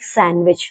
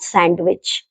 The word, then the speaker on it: sandwich: There are some words in which D is silent, but there is no fixed rule for them, like sandwich, not sandwich, Wednesday, not Wednesday, handsome, not handsome.